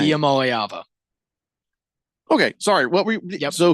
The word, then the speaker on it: Iamaleava: Iamaleava. What did you say? Lava Lampa Lava?